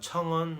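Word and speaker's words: 层: 그다음 청은 뭐 우리 그 층 있잖아요. 층을 중국 발음으로 청이라고 생각하시면 될 것 같아요.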